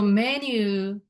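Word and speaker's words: メニュー: So menu in Japanese is menu. Pretty much sounds same.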